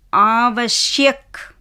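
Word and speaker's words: आवश्यक: வ ஷ ய க சோ ஹாஃப் எழுத்து வந்தா எப்படி வாசிக்கணும் அடுத்த எழுத்தோட சேர்த்து வாசிக்கணும் ஆவசியக் ஆ வஷ் ய கவசியக்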